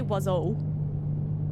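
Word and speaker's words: oiseau: I can pronounce most French words though. Like I can say wazo.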